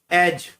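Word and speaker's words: edge: जैसे पहला है एज, एज में डी साइलेंट होता है।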